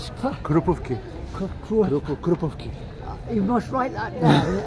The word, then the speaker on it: Krupówki: Krupówki. Well, it's one of those words which you write and you pronounce it the same way, actually.